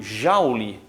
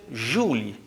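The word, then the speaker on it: joule: inglês James prescott Jaul existe também a pronúncia Juli né mas no Brasil em geral a gente ouve mais a pronúncia Jau outra grandeza a diferença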